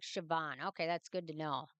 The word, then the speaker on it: Siobhan: time flies so oh sioban okay Coban sounds like Siobhan okay that's good to